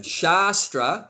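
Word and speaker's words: शास्त्र: Shastra means a scripture.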